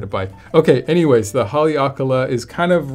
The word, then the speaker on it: Haleakala: This is the Maui Jim Haleakala, and I know how to pronounce that one so well because I've been to Maui and I've actually climbed Haleakala on my road bike, which is quite a day.